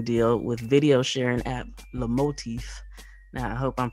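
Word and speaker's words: Lomotif: strike the licensing deal with video sharing app the motif now i hope i'm pronouncing it right it's l-o-m-o-t-i-f so apparently the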